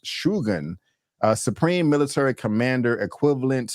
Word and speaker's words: Shogun: with the pronunciation um I'm used to saying Shogun but it's actually pronounced shugan a supreme military commander equivalent to a Duke